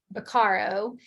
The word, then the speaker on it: Beccaro: I always have to stop and say Beccaro because I want to put the emphasis on the wrong syllable.